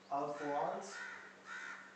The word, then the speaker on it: Alphonse: Okay, Alphonse Daudet. That's how his first name is pronounced.